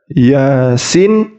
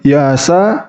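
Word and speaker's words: يس: ni jadi di sini ada Yasin bukan Yasa Bukan dibaca Yasa tapi dibaca Yasin Adapun Inya itu dua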